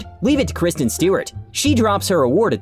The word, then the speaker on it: Stewart: Khloe Kardashian doesn't really know how to pronounce the name Stewart. After a while, Jennifer Lopez wanted to correct her. Stort.